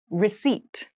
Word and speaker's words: receipt: service meal room service meal room service meal receipt receipt receipt receipt has a very interesting spelling